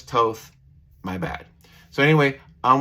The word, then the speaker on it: Toth: that's drawn by alex toth i know the last name is pronounced toth but for some reason i said toff and i had a